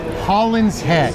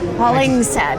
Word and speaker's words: Hollingshead: Holland's head. Holling's head.